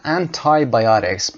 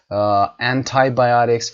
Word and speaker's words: antibiotics: میگن antibiotics. برای کلمه انتی که البته پیشوند هست، شما انتی رو میتونید هم انتی و هم انتای تلفظ کنید، تفاوتی وجود نداره. antibiotics و یا antibiotics هر دو صحیح است.